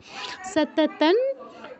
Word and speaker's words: সততং: সততন জপ্য তৎপরঃ, সততন জপ্য, জৈপ্য কেউ বলবো না, জপ্য তৎপরঃ।